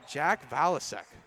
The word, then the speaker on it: Jack Valasek: I think we've been saying his name wrong the entire time. That is going to be Jack Valasek.